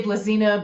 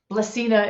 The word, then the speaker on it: Blazina: you are you are we say blizzina but blessina is good too in Spanish they say blasina and Croatian they say lazina well emphasized croatians it's